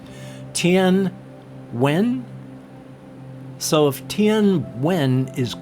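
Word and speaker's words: Tien Nguyen: Gave a couple different ways to do it. One of them just went, when wing, very much like that, whereas most of the other pronunciations said Tien Wen.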